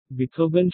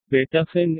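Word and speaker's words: Beethoven: আমি এসব সুরকারদের রচনা শুনিনি বটে, কিন্তু এদের নামের উচ্চারণগুলো অন্তত আমার জানা আছে, কিন্তু আপনার নেই। কি রকম? হাইড্রন, মোৎসার্ট, বেটাফেন, এই হলো আসল উচ্চারণ।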